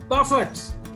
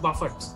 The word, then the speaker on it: Buffett: he bernard i know or is it warren buffett i almost said buffet buffered pronounced buffett he has an estimated wealth of 71.8 billion